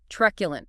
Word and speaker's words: truculent: Okay, number 4, truculent. Truculent. Stress. Stress on the first syllable. Truculent, 3 syllables.